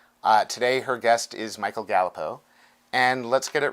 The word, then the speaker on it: Galipeau: And I'm such a jerk because I'm about to mispronounce his last name and I'm going to have to do it again. Michael, it's Galipeau. It's Galipeau, correct?